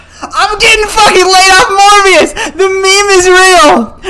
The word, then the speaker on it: Morbius: Morbius rhymes with abortionist.